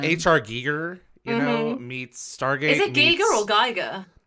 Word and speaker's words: Giger: it it's like H.R Giger you know meets stargazing it's it's pronounced Geiger it's so that is the way okay yeah he pronounced it that way and he's got like